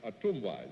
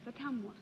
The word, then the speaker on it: Ottumwa: Miss Carol Morris, of a town that I love to pronounce, Ottumwa, is that right? That's close. Ottumwa. Ottumwa.